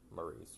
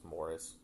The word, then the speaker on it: Maurice: It's written, the way it's spells, it's spelled like Maurice. So every time I read it, my brain says Maurice, but I got to remember that they call him Morris in the movie.